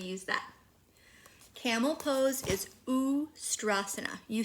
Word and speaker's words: Ustrasana: Camel pose is Ustrasana. You say Ustrasana.